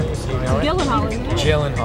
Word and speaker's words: Gyllenhaal: Mr Gyllenhaal and yes that is how you pronounce his name you want me to say it for you so you know it jillen hall jillen jillen Hall everyone it's jillen Hall before I get to